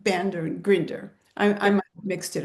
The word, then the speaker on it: Grinder: Um neural linguistic programming started from grandler and binder. Am I saying it right? You've got them mixed up actually. You've mal. So it's Bandler Bandler and John Grinder. Yeah. Bandler and Grinder.